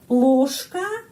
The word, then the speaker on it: ложка: Ya, kenapa huruf J pengucapannya sh? Karena sering dalam kata huruf J pengucapannya sh. Sering. Seperti suami, muž. Kita menulis muž. Ada huruf J. Tapi pengucapannya sh, muž. Dan di sini juga ложка. Ada huruf J. Tapi pengucapannya sh, ложка. Ложка.